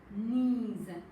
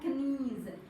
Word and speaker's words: knees: Yes, and these are called the knees. Okay children? So here K sound is silent. No K sound. No knees.